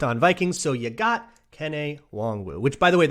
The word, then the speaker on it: Kene: So you got Kene Nwangwu, which, by the way, that's how his name is pronounced, Nwangwu, like honk shoe, which is what